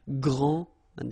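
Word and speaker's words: grande: you don't the day here and you don't pronounce the final s okay so gr and then same thing here gr and regarding the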